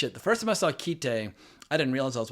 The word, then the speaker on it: Kite: It's two syllables. But holy the first time I saw Keite, I didn't realize I was watching the censored version.